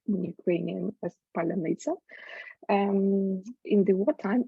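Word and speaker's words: паляниця: Ukrainian homebake uh from vegan bread which is pronounced in Ukrainian as palaniza and in the what time it has became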